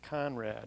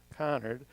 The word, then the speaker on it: Conard: And the property takes its name from Henry Conard, who I'll say more about in a second, and you often see it mispronounced as Conrad. It's Conard.